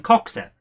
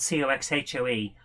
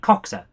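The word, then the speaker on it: Coxhoe: in the northeast in coxa it's spelled c-o-x-h-o-e cox hoe but uh we all call it coxa because the noe and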